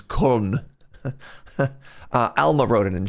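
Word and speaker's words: Köln: as the Germans would pronounce it. K. K. It's like K and then O with the two floaty eyes above it. L N. Yeah, the the English call it clone and the Germans colon.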